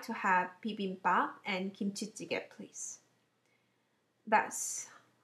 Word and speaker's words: 김치찌개: It's right pronunciation. 김치찌개. Not kimchi.